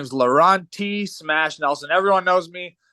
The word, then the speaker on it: Lorawnt: t Dash T smash Nelson my name is laurenti smash Nelson everyone knows me or a lot